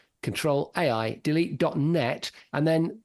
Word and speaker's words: Ctrl: net um that's Ctrl as it's spelled on your keyboard control Aid delete.